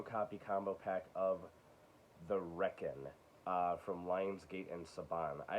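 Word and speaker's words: Requin: a loss uh because i thought you pronounced it the requiem and that's not at all it's the reckon like you're wrecking something i'm gonna wreck it um this was okay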